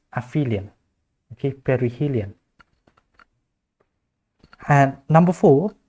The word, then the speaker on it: aphelion: be a and the abhilian will be b okay you actually pronounce this one as aphelion okay perihelion and number